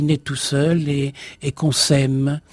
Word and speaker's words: sème: tout seul et qu'on sème. Ça s'écrit S-E-M-E, comme les petites graines, et aussi S'-A-I-M-E.